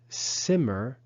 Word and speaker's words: simmer: is a simmering pot the verb simmer has an accent on the first syllable not on the last syllable so the consonant at